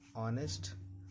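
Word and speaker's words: honest: एच का silent होता है। कोई भी वर्ड हो जिसमें एच के बाद वोवेल्स हो। एच के बाद देखिए वोवेल्स है एच को नहीं पढ़ना ऑनेस्ट आवर कुछ वर्ड है जिसमें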